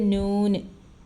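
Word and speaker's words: نون: നമ്മളെ മയുടെ ശബ്ദം മീം അടുത്തത് നൂന് നമ്മുടെ നായുടെ ശബ്ദം വരുന്നത് നൂന് ഇത് വാവ് നമ്മുടെ വായിന്റെ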